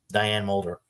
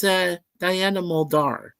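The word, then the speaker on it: Diana Muldaur: Yeah, Diane Mulder. Well, Diane Mulder was super hot in TOS. Remember, she was in TOS. Yes, that's why I said that. Yeah, and it's Diana. It's Diana Muldar.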